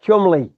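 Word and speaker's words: Cholmondeley: you might know what I mean because it's pronounced Chumli.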